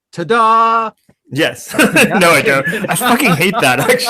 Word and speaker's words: Tada: like you ever do you ever tell people that it's pronounced ta-dah yes no i don't